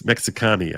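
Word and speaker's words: מקסיקני: It's Mexicani, actually. This is pronounced Mexicani. Yeah. Pronounced Mexicani for a male and Mexicanis for a female.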